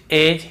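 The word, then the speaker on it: edge: फिर देखिए हेज और वेज, यहां पर भी डी को हम नहीं पढ़ रहे हैं, ब्रिज, एज, हेज और वेज।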